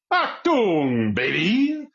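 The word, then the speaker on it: Achtung Baby: by the band U2, I believe it is pronounced Achtung, baby.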